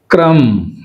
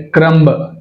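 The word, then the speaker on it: crumb: క్రమ్ క్రమ్ అంతేగాని క్రంబ్ అనకూడదు. Right, balm balm.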